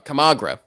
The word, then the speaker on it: Camargo: Camagro at the plate. That's how you pronounce his last name. Okay, I was reading wrong. Camagro.